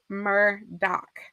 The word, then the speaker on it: Murdaugh: the way it's spelled, but it is definitely pronounced Murdaugh.